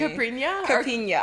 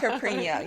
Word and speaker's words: Caipirinha: You have to pronounce it for me. Caipirinha. I don't know why I can't say that. Caipirinha.